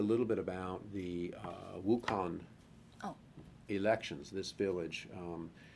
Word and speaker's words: Wukan: of this of this okay wukan am I pronouncing it correctly yeah wukan is the name of a village located in